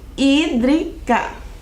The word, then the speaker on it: hídrica: olhe como se escreve se escreve com h né o h não tem som então começa o som do I hídrica o que será essa